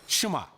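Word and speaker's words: שמע: é ouvir ou escutar quem hebraico é pronunciada chimar daí vem o nome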